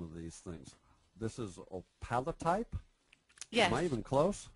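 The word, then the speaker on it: opalotype: Nicole how I don't even know how to pronounce some of these things this is op palot type yes am I even close yes that's exactly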